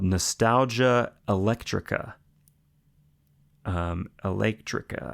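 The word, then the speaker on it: Eléctrica: Um Electrica, I guess it has an accent on the E.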